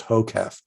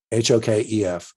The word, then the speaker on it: HOKEF: I have a saying in my class, it's an acronym, which is pronounced HOKEF, HOKEF, which stands for hands off the keyboard, eyes front.